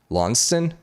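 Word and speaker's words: Launceston: weird ones to pronounce l-a-u-n-c-e-s launched uh pronunciation uh uh uh tasmania in england lonston that's in tasmania whatever lonston we're just going to call it lonston how about that that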